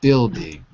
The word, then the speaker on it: building: know no but pronunciation building building yeah buing we don't pronounce the U okay excellent using good